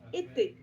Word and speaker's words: été: Et être, c'est comme la saison, été.